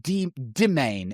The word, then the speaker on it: demesne: Anyway, just think word domain when you read it. And it's just a little bit de domain instead of domain. That's how you say it.